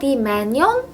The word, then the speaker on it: Manon: Apparently it's pronounced Manyon in Korean.